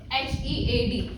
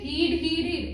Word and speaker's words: head: For example, this is the word H-E-A-D. Here the spelling are right. But if they speak it heed, its pronunciation is wrong because the right pronunciation is head.